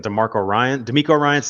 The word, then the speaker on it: DeMeco Ryans: well-coached defense is what it sounds like in DeMeco Ryans, that's how you pronounce it.